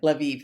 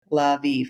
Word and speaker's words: Lviv: And I said, surely it's not, you don't pronounce it like Lviv. Maybe it's like live or something, like, so then I